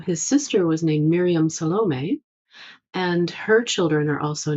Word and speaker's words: Salome: Her name was Salome. I know some people pronounce it differently. If you look it up on the internet, you're going to find various pronunciations. This is how I pronounce it.